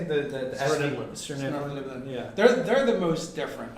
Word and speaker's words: Svirneblin: Svirneblin.